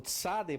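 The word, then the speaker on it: צדי: o Pei, o P, o Tsadei vai representar TS, tá? TS, na transliteração, para você ter a pronúncia de Tsa, ok?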